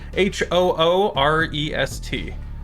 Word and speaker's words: Hurest: Phonetically, Hoorest. Hurest. Hoorest.